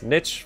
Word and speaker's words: niche: Because you can pronounce it both ways. Niche for if it's like a small like alcove, and niche if it's like the adaptation version of the word, I think.